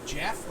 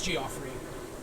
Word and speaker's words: Geoffrey: I was like, oh, is it pronounced like Jeff, like Jeffrey? And he was like, no, it's Geoffrey.